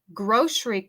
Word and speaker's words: grocery: Grocery cart. Con mi pronunciación americana, yo pronuncio esta palabra grocery como si fuera SH. Grocery. Grocery.